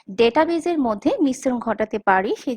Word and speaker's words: database: অনেক সময় দেখা যায় যে ডাটাবেস বা ডেটাবেজের মধ্যে মিশ্রণ ঘটাতে পারি, সেই জন্য আমি ক্ষমা চেয়ে নিচ্ছি। কারণ আপনারা অনেকেই জানবেন ইংরেজিতে সঠিক প্রোনাউন্সিয়েশন আমরা দেখতে পাই ডেটাবেজ, কিন্তু বাংলা টেক্সট বুকে লেখা আছে ডাটাবেস।